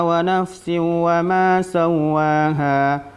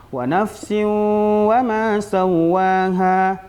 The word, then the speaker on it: ونفس وما سواها: Ini bacaan yang tidak tepat. Kenapa? Karena di situ ada hukum idgham bi gunnah, tanwin berjumpa dengan huruf waw. Bacaannya yang benar walaupun kita membacanya agak cepat, wa nafsin wa ma sawwaha, tetap kita tahan di situ lebih kurang 2 harakat.